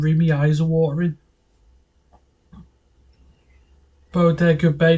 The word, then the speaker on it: Bodega Bay: As the beautiful blonde Melanie Daniels Tippy Hedren rolls into a bog of the bay. Sorry, I was like, I try and read, my eyes are watering. Bodega Bay, that's it. I was mispronounced it.